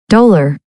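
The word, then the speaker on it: dolor: so they say distress d o l o r like color both a deed so I had to look that up doar doar doar doar so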